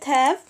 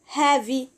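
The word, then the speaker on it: have: ازامبل عندنا زي كلمه بصوا كده كلمه هاف احنا نطقنا حرف الاي في الاخر لا ما نطقناهوش كلمه ليت ليت ليت اوكي برض هنا ما نطقناش ايه ما نطقناش حرف الاي الاي الاي في الكلمه الاولى هنا كلمه هاف ما بنجيش نقول هافي لا بنقول هاف معنى كده ان احنا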